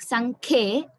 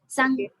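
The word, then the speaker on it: सङ्ख्ये: I heard like Sankhe. It is Sankhye. Sankhye. Here should be heard.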